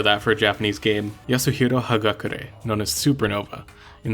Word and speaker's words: Yasuhiro: I feel like Yasuhiro is like one of the easier names to pronounce cuz you just like look at it and that's how you pronounce it. It's like four syllables.